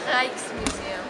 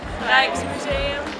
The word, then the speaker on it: Rijksmuseum: Rijksmuseum. Rijksmuseum.